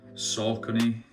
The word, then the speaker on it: Saucony: These are Saucony, I believe that's how you say it.